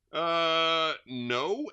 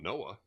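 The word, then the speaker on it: Noe: No, N-O-E. How do you pronounce N-O-E? No? It's not Noah. All right. Anyway, it just says no.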